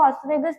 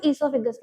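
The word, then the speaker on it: oesophagus: अच्छा देखो सबकी प्रोनाउंसिएशन होती है, कहीं इसको ऑसोफेगस कहते हैं, कहीं इसको ईसोफिगस कहते हैं, ठीक है।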